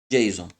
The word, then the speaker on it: JSON: Você vai ouvir aí JSON, JSON, JSON, várias pronúncias. JSON, né?